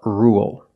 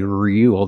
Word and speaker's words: rule: Now let's talk about rule. With rule, we don't say rule. There's no Y. It's just R. Dark L. Rule. Example.